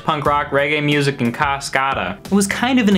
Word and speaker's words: Cascada: Thanks, brother, but I'm cool listening to my Irish punk rock, reggae music, and Cascada. I was kind of an eclectic kid. Also, I know it's pronounced Cascada.